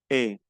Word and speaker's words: est: Il est. El est. On est. Estos tres se pronuncian E.